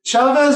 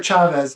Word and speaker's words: Chavez: Is it Chavez or Chavez? Hard C or? I say Chavez. Okay. Yeah, most of the time. Sometimes I say Chavez, just do not get people confused. But Chavez or Chavez, doesn't matter. I answer to both.